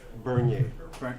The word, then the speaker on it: Bernier: Bernier. Bernier. Yeah. Just say Bernier. Bernier. You watch somebody burn and you go yay. Got it. Just like Vernier.